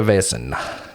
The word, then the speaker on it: Vaesen: He's motivated by learning about the VAESEN Sure.